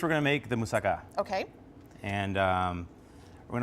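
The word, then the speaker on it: moussaka: today uh one being hummus and the other pronounce it for me musaka musaka musaka is a classic Greek dish okay um that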